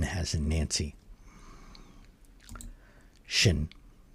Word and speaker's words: 辛: n has in nancy shin. So it's pronounced shin not sin.